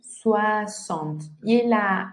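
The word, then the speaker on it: soixante: Esa X no va a sonar como una X, va a sonar como una S. 60. Y la N es on.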